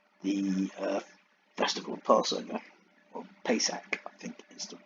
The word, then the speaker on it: Pesach: briefly covered in the uh festival passover or pesach i think is the right pronunciation in the hebrew so the actual marriage